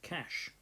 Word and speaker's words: cache: is something called cache memory okay cache memory pronounced cache so the idea behind this is it's much